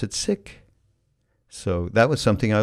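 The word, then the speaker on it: Sikh: woman named Valerie car a sick woman who seek but they pronounce it sick so that was something I learned when I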